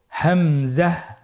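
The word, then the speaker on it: همزة: হামজা হরফটি উচ্চারণ ক্ষেত্রে বারিক করে উচ্চারণ করতে হবে এবং এখানে টেনে পড়া যাবে না, দ্রুত পড়তে হবে। আপনারা আমার সাথে বলুন হামজা।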